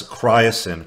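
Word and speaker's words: chrysin: He recommended zinc plus cryosin. Cryosin is spelled C-H-R-Y-S-I-N.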